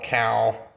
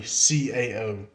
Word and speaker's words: CAO: some misconceptions about the name some call it cow or whatever like that and I call that KO because I'm not really sure how they're wanting to pronounce it but it's it's actually CAO I didn't know for sure that that would